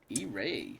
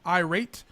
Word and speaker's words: IRAE: It's pronounced IRAE. E-Ray. Not IRAE. Yeah. Not irate.